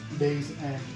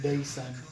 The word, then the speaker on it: Daysend: Jason before and um back then I used to think it was day's end because even though it's just one word that's what I thought back then but it's pronounced day sun d-a-y-f-e-n-d so let me know